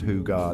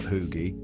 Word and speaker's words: hygge: Now, if you've ever heard of Hygge pronounced Hygge, not Hoogie, don't be that guy.